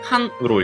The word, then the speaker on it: 干: 음독은 칸으로 읽힙니다. 칸. 이 간과는 칸과, 간조는 칸초, 간섭은 칸쇼라고 읽혀요.